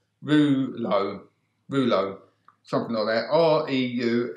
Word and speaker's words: Reuleaux: other this now which is the thinking is pronounced rouleau rouleau from there or EU l e 8u